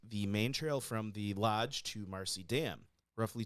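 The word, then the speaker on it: Loj: the high peaks Wilderness I feel like you still say it Lodge it's just spelled wrong lodge because he wanted it phonetic I guess yeah Lodge I said it wrong yeah I said LGE for some reason I don't know why probably because he didn't spell it right yeah because he's just phonetic spelling it's LJ but it's supposed to be Lodge so his initial route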